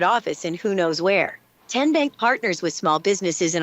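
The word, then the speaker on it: TnBank: Tien Bank? Nope. Tin Bank? So what is it? 10 Bank. 10, as in Tennessee, right here where all our banking decisions are made.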